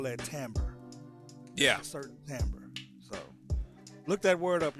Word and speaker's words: timbre: A certain timbre. So look that word up, y'all. Timbre. Yeah. Timbre. That's how it's pronounced.